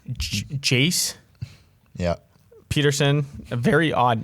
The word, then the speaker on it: Jace: is just at baseball but uh and that's chase jace yeah peterson a very odd name let's say